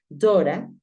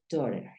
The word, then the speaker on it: daughter: Si queremos hablar de la hija, podemos decir Dora. Hay algunos lugares donde lo pronuncian Dora. O puedes decir daughter. Daughter o Dora, de acuerdo a donde estés.